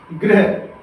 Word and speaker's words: गृह: इसमें पदेन्द्रा लगा है और इसमें ऋषि की मात्रा लगी है, दोनों में अंतर है।